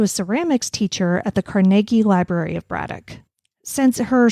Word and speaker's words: Carnegie: I I'd just like to thank you for pronouncing carnegi correctly you and I have been together for like eight years or something like I know how to pronounce carnegi by now everybody outside of Pittsburgh proun pronounces